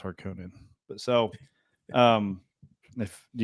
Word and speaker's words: Harkonnen: I say Harkonnen, some people say Harkinin. I played Dune 2 in in 1996. Harkinan. I played Dune 2 in the 1990s and it was always pronounced Harkonnen.